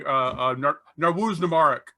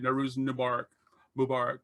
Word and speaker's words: Nowruz Mubarak: Nowruz Mubarak I think is how you say it. Nowruz Mubarak.